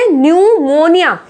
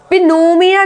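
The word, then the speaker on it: pneumonia: अब देखो न्यूमोनिया, क्या बोला जा रहा है इसको, पी साइलेंट है इसमें, न्यूमोनिया। पिनोमिया नहीं बोलते हैं, पी का साउंड इसमें बिल्कुल नहीं आ रहा है।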